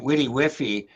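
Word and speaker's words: WDYWFY: how you pronounced it we pronounce it witty wiffy uh okay yeah yeah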